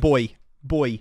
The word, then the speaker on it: buoy: Boy. Oh, okay. The pronunciation is different, not the spelling.